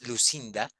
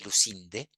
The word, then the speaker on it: Lucinde: romanticismo alemán que es Lucinda O sea lucinde que se menciona la novela que le escribo en el chat se escribe como suena lucinde que cuenta el amor